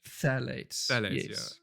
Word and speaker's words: phthalates: of fairness i think i think the f is silent phthalates that is um oh i say f but it's p8 that's what i meant